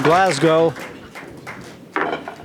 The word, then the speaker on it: Glasgow: one the man from Glasgow now making New York City his home that how you pronounce it glasgo a soft s not Glasgow Glasgow Glasgow Tough City I was